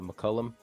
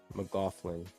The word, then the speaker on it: McLaughlin: uh the little point guard is it uh McCullum something like that and then uh and then Knight in there as well it's awesome McLaughlin yeah that's how you say it Alexander yeah